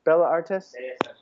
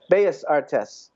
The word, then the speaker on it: Bellas Artes: Bella Artes? Bellas Artes.